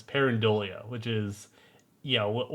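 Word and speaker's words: pareidolia: parolia as I've been I keep mispronouncing parola but it's parolia which is you know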